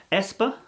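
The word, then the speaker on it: aespa: there's also a k-pop band called espa i believe that's how they pronounce it so here the ash symbol is pronounced e the ash symbol is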